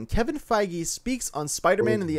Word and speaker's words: Feige: is a big one actually number one it's pronounced his name kevin feige speaks on spider-man in the mcu and civil